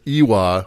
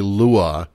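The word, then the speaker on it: lwa: as me basically i kept pronouncing it iwa when it's actually lua it appears that i kept reading the the uh the l as a capital i so oh yeah that's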